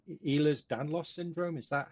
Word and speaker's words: Ehlers-Danlos: with, and I might be saying this wrong, Ehlers-Danlos syndrome. Is that how you say it? Yes, Ehlers-Danlos syndrome. Ehlers-Danlos syndrome.